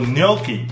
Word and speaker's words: gnocchi: 这个叫做 gnocchi， gnocchi，还有前面的 G 不发音，嗯， gnocchi，